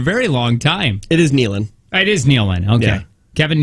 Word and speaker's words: Nealon: them for a very long time it is Nealon it is Nealon okay Kevin Nealon that just